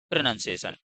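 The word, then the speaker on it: pronunciation: प्रोनाउंसिएशन अपन बड़ा प्रा कर देता है, प्रोनाउंसिएशन कर देते हैं। तो सही क्या है इसका, प्रोनाउंसिएशन।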